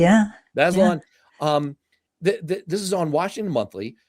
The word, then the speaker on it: Bazelon: Am I pronouncing Simon's Yeah, last name Baseline. correctly? Yeah. Yeah. Bazelon.